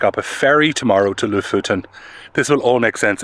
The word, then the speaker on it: Lofoten: Maybe to Lofoten. I pronounce it as Lofoten, but apparently it's Lofoten.